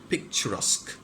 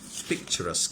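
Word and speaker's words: picturesque: very common word perfect হ্যাঁ perfect perfection perfect উচ্চারণ কি পারফেক্ট এন্ড এবার যে ওয়ার্ডটা বলছি দুর্দান্ত ওয়ার্ড পিকচারাস্ক কি বলে পিকচারাস্ক ওকে পি আই সি টি ইউ আর ই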